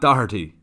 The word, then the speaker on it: Doherty: brought upon myself to settle the debate Matt Doherty is how you say his name without missing